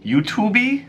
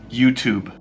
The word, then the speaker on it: YouTube: email you son you can Second Empire young you to be you to be it's just YouTube YouTube Amazon Amazon how about your favorite shoe